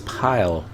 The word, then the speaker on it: Pil: ready to a spawn pill i don't know if that's how you pronounce it it looks like p-i-l watch square enix so it's pile i'm like oh okay i wouldn't guess that and somebody i only